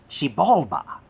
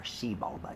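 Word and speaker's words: Xibalba: were nine underworlds called shibalba spelled with an x x-i-b-a-l-b-a or shibalda even sometimes and the rulers down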